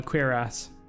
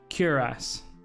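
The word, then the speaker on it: cuirass: actually pronounce that cutlass no queer ass i don't think it's like that this is where um scott died is there books here lore books no cure ass okay thank you good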